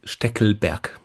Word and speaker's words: Steckelberg: in German, it is Steckelberg.